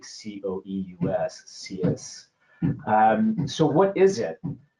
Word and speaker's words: Coeus: We're very very excited to uh be here today talking about Stinyl Cus uh pronounced as like Cus.